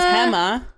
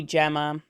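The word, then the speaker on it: Gema: And so my mom says Hemma, but in America she'd be Gemma.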